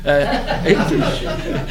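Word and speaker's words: Haïti: Haiti, but it's in French. You don't pronounce the H.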